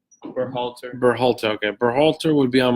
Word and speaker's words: Berhalter: All right, now, how do you pronounce this guy's name? Berhalter.